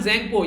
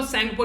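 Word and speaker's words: Tsangpo: आज के दिन में, यारलंग ज़ेंगपो या फिर इसको सेंगपो भी बोलते हैं, टी साइलेंट रहता है।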